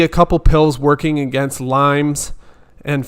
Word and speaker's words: Lyme: So Andy said, I can't see a couple pills working against Lyme's and 5 co-infections. Again, real quick, guys, it's Lyme disease. Lyme disease. Or just Lyme. It's not Lyme's, but that's okay.